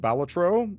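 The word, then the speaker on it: Balatro: I was a bit addicted to Balletro. Uh which apparently that's how you pronounce it.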